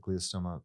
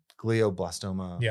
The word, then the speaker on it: glioblastoma: at uh glios uh how do you pronounce that glutastoma no glioblastoma multiforma um the only thing